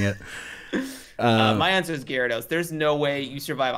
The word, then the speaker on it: Gyarados: chewbaccas or one regular-sized gyrados it's pronounced gyarados i don't know jesus